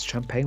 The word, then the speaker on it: Champagne: Oh yes, champagne was actually an accidental invention. So this was monks, actually. Now, the monks of Champagne. Champagne, you got that to authentic French pronunciation.